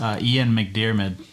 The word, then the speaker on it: McDiarmid: That's Ian McDiarmid.